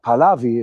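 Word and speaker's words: Pahlavi: and then calling on uh Palavi is I think the way they they pronounce it to come back to Iran.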